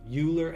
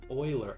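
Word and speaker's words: Euler: then there's another one uler angle it's actually pronounced Oiler angle math math stuff love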